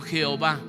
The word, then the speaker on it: Jehová: Se conoce esa YHWH, la palabra impronunciable, que para poderlo pronunciar algunos han agregado algunas letras adicionales, porque si no, no lo podríamos leer. Y algunos le agregan 2 letras para poder pronunciarlo como Yahvé. Y algunos le agregan 3 vocales y lo pronuncian como Jehová.